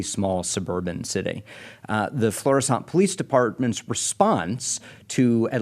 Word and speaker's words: Florissant: occurred in the city of uh Florissant I think that's the way it's pronounced I want to call it Flores but I don't think that's right Florissant Missouri a suburb about